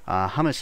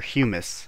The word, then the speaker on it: humus: Hummus is pretty easy to make. You just need apatite and dirt. Very simple. Or humus. I don't think it's pronounced hummus. Humus.